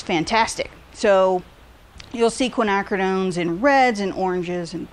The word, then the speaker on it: quinacridone: This color is called Quinacridone Violet. And so you guys will likely hear all kinds of mispronunciations of that word, but it is quinacridone.